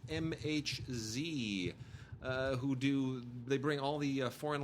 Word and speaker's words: MHz: And then really quickly, I just want to we love the people over at MHZ, which I used to mispronounce or mislabel as megahertz. It's MHZ.